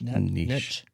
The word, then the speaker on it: niche: Niche. Niche. It's niche? Yes, niche. Like quiche.